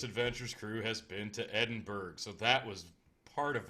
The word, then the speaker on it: Edinburgh: I suck at words no no its Edinburgh the curator the person who walked us through she pronounced at Edinburgh so we're going with that holy crap I just